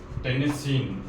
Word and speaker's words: tennessine: क्या बोलेंगे, एस्टेटिन, इसको बोलेंगे, इसका नाम है टेनेसिन, क्या नाम होगा, टेनेसिन, नेसिन, स्पेलिंग हो जाएगी TENNESSINE, टेनेसिन, ठीक है, TENNESSINE, टेनेसिन, ठीक है।